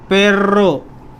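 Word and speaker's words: perro: Double R को ये pronounce करते हैं पेर्रो, पेर्रो। आर को खींचते हैं, रर, रर, ऐसे।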